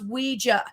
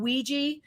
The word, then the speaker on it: Ouija: But yes, it's pronounced Ouija. Now, because of pop culture and enough people saying Ouija, you can say it interchangeably.